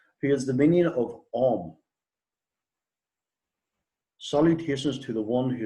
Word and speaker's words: Om: Om is 3 seed syllables, A, U, and M.